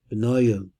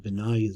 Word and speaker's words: Benaiah: Benayo, son of Yoyada, that's really how I pronounce it, Benaiah, son of Jehoiada, was a valiant man of many achievements.